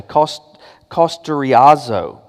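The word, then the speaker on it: καυστηριάζω: The word that's translated as seared, and the Greek is a word, you pronounce it this way, kosteriazo.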